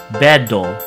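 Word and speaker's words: ベッド: So for example, the English word bed, which has that kind of rough ending syllable that gives you that duh sound at the end, we're going to translate that to the Japanese katakana version, and it's going to be bedo.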